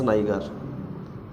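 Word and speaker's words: niger: Is extracted from aspergillus नाइगर। Aspergillus, आपने कहा नाइगर बोलते हैं कि नाइजर? हमने नाइजर चलता है वैसे, ये नाइगर तो आपको स्पेलिंग के लिए है, चलता नाइजर है, पर आप जो मर्जी बोलिए बायोलॉजी में, नो प्रॉब्लम।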